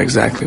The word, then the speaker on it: exactly: Exactly 이렇게 발음하고 있죠. 이그도 아니고 이 하다가 그냥 바로 가죠.